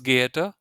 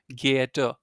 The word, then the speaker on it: geehrter: R at the end, Geehrter. Yeah. Again, when you speak, I mean, I told you in the last session that you should never not try to pronounce the R at the end.